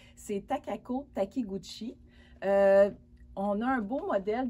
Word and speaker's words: Takako Takiguchi: je m'excuse, j'espère que je vais bien le prononcer, c'est Takako Takiguchi.